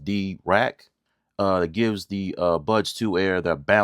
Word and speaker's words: Dirac: You get features that normally sit above that price, like Dirac-tuning, that's pronounced D-Rack.